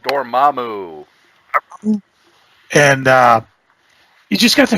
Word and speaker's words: Dormammu: Dormammu? Dormammu.